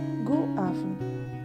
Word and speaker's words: god aften: In Danish, we will pronounce as God aften.